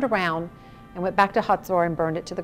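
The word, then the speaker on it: Hazor: On one particular day, we went to a place called Tel Hatzor. Now, you may remember Hatzor from the Bible. It's spelled H-A-Z-O-R, and it was the only northern city in the country that Joshua burned to the ground.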